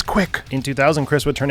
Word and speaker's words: CWC: CWC meaning his initials, or otherwise pronounced as Quick.